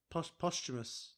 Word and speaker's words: posthumous: Yeah, I think obviously Part 2 was posthumous.